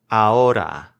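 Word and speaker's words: ahora: roof of your mouth here's a fun one that silent h in the middle might throw you off it's aura b-i-e-n so this one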